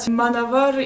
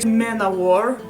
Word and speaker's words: Manowar: I know very well that Manavar is actually Manowar. That's how everyone pronounces it. I say Manavar because it sounds to a Russian word samovar.